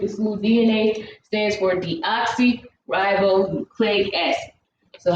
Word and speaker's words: deoxyribonucleic: school dna stands for deoxyribonucleic acid so how you pronounce that word just break them apart d then oxy ribose it's hard when you